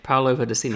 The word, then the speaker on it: Paolo Pedercini: oh dear, I don't want to get his name wrong, Paolo Pedercini. That's right, Paolo Pedercini.